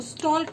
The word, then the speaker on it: stalk: स्टॉक मतलब होता है पीछा करना, और यहाँ पे एक वो एल है, एल इज साइलेंट. स्टॉक, इसको स्टॉक नहीं पढ़ेंगे आप, इसको आप पढ़ेंगे स्टॉक. स्टॉक मतलब किसी का पीछा करना, लेकिन उसे पता ना हो, ठीक है.